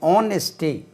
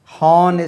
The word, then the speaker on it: honesty: நேர்மை, ஆனெஸ்டி, HONESTY இதனுடைய H உச்சரிப்பு வராது, ஆனெஸ்டி, ஆனெஸ்டி, ஹானெஸ்டி சொல்லக்கூடாது, ஆனெஸ்டி. லவ் அன்பு, LOVE லவ் அன்பு, லவ் அன்பு.